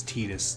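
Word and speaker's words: Tidus: to say Titus some I think the official pronunciation is Titus te e d s is how it should sound I don't care I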